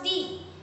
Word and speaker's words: the: If the word the is followed by consonant sound, if the word the is followed by consonant sound, we pronounce it the.